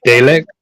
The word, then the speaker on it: Dalek: I think it's like Darlek. Do you know how to pronounce that right? It's from Doctor Who. Yeah. Dalek. What? Dalek. Is that how you pronounce it?